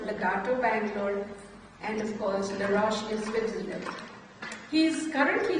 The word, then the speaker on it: Les Roches: And Anurag told me, don't say Les Roches. Okay, even though it is spelled like that, it is a La Roche.